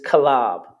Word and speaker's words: Caleb: Next, mighty man Caleb. Caleb. How do you say that in the Hebrew? It is Kalab. Kalab. Kalab. Ka-la and the ba. Kalab.